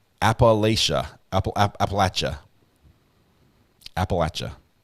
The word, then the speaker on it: Appalachia: Mountain Mama recovery addicts uh Recovery Act is pronounced Appalachia Apple Appalachia Appalachia Apple etcha please love this channel okay Mountain Mama I